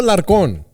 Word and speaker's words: Alarcon: Alarcon.